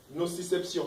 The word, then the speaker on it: nociception: Nociception, tout avec le C. Nociception, partout ce sont les C.